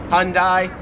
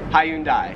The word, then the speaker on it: Hyundai: pronounce it as hyundai americans make it like two syllables like hyundai australians three syllables hyundai now 40 and 41